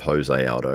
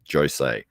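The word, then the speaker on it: José Aldo: say Jose instead of Jose Aldo is because he himself says no my name is actually pronounced Jose Jose Aldo even though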